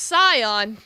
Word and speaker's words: Scion: That's not how you say it. It's not. It's upper Sound Son or Scion. Oh, it's Scion.